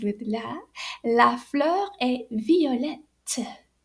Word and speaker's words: violette: La fleur est violette. So the spelling is V-I-O-L-E-T-T-E. And we pronounce those two T's.